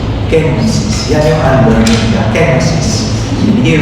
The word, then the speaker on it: kenosis: a bit more of the kid it's not genosis genosis sister ne said father hindi i ask